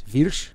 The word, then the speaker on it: Wyrsch: Wyrsch in America. Wyrsch. If you go to the motherland of Germany, it's Wyrsch.